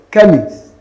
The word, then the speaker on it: chemist: That you have CH here and you have CH here, that does not mean that they are pronounced the same way.